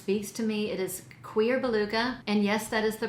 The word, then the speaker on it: Cuir Beluga: vanilla that just face to me it is queer beluga and yes that is the proper pronunciation somebody really took me to town in